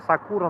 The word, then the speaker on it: сакура: Ударение, когда сакура на первое А оказывается.